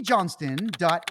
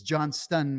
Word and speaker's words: Johnston: and I believe my name is spelled right here there's a t in the name it's the Irish version not the Americanized John ston it's John stun with the T not not like Don Johnson of Miami Vice fame